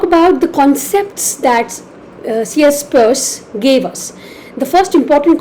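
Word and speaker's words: Peirce: first we've already talked about Saucier Charles Sanders purse often spelled as peers but pronounced as purse he was an American philosopher a logician and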